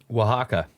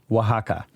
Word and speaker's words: Oaxaca: is that it yeah oaxaca oaxaca okay so the x is like an h yeah that's what it